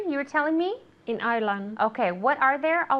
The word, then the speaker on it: Ireland: Ireland. Ireland. Yeah, the D at the end, okay?